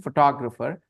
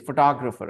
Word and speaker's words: photographer: By the way, that's the pronunciation, photographer. Everything else is an Indianized pronunciation. The English pronunciation, the way people who speak English say it, is photographer, okay?